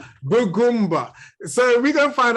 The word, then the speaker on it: Bugumb: How do you pronounce it again? Bugumb. Bugumb.